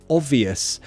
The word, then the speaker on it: obvious: Quickly, Mikhail says, how do you pronounce obvious? The B, you don't need to pronounce the B. Of. I go straight to O, V. Of.